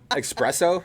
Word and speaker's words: espresso: there's no X in there's no X in it espresso yeah yeah it's just